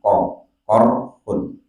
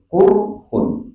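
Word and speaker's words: قرح: Bi fathil qafi, dengan dibaca fathah qafnya, korhun. Wa dhamuha, dan boleh dibaca dhammah qafnya. Jadi boleh korhun, boleh kurhun.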